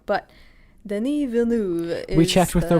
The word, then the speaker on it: Denis Villeneuve: It's Denis Villeneuve.